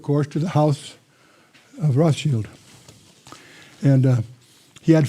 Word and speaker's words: Rothschild: Meyer Amschel Bauer changed his name to Rothschild, not Rothschild. That's mispronounced by most Americans. Rothschild. That's the German word for red shield.